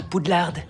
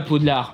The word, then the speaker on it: Poudlard: qu'on se croirait à poudlard jazz prononcent pas comme ça à poudlard le d à la fin et silencieux je crois en une